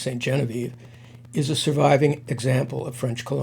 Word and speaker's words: Sainte-Geneviève: The Becket-Ribot house now pronounced Saint Genevieve, is a surviving example of French colonial architecture.